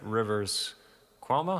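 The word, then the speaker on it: Rivers Cuomo: is really interesting and the head space that Rivers quo is how you pronounce his name Rivers quo was in is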